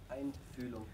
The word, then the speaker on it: Einfühlung: Einfühlung. Say again? Einfühlung. Einfühlung. Okay. The umlaut there on the first U.